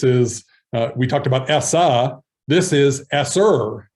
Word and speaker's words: ESSER: acronyms um this is uh we talked about essa this is sr e-s-s-e-r esser funds that uh will allow us um